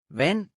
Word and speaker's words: vand: Let's try the words with ND combination. Listen well so you will notice the silent D. Spand. Pind. Vand.